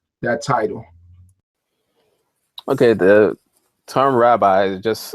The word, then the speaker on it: rabbi: title okay the term rabbi is just it's a Hebraic term which properly is pronounced Rabi you know and it